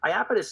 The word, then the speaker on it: Iapetus: to Dan that are dropping down into Lapidus Iapetus is interesting because it's it's about two different